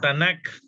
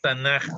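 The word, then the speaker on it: תנ״ך: No Tanakh, que debería ser lo lógico, pero es Tanaj.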